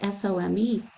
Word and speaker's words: some: So home says the long O, right? Cake says the long A. But now let's take home, which follows that rule. But then let's take SOME. And how do we pronounce that? Some. And then there's another sum, SUM, right?